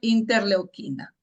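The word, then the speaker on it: interleucina: y L inter leocina se escribe ya y se pronuncia interleoquina.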